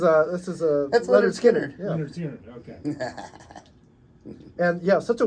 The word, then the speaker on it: Lynyrd Skynyrd: no this is a this is aard SK leard skard okay and yeah such a weird spelling of